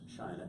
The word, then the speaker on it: Shina: And it's Shina, Shina.